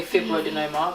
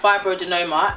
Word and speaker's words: fibroadenoma: is about fibro denominator i'm finally pronouncing it right i always say fibroid denominator blame my doctor we're talking about fibrodenoma and this is basically